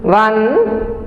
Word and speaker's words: one: O-N-E, O-N-E, we pronounce it as one. W-O-N, one. They both have the same sound but different spelling.